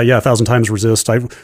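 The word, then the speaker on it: 1000xRESIST: We have confirmation from a developer or publisher that they pronounce it 1000 times Resist.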